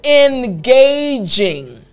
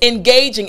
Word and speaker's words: engaging: So I want to focus on the J sound. Engage. Jing, right? The J sound at the beginning of the jing. So in order to make this sound properly, in your mouth, what you are going to focus on, again, jing, jing.